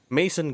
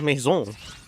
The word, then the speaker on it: maison: English like regular English, they would say Mason gardenage, Mason, but it's actually pronounced maison gardenage.